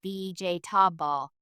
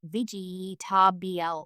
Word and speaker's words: vegetable: In natural English, comfortable often sounds more like cf to bowl with the middle syllables shortened or vegetable sounds like vjab ball, not vgl with each syllable pronounced clearly.